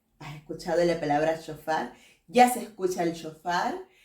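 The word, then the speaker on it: שׁוֹפָר: vamos a conseguir en la 7782 y se pronuncia chofar has escuchado la palabra chofar ya se escucha el chofar has escuchado un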